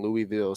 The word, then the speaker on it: Louisville: have family in Louisville so I know about Louisville yeah see that's how you say it I've